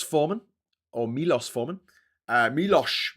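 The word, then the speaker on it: Miloš: Uh Milos Milos actually you want to put a H in there.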